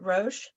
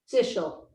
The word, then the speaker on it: Sichel: Is it Roche? Sichel, Sichel. Okay, how do you say S what? S-I, C as in Charlie, H-E-L.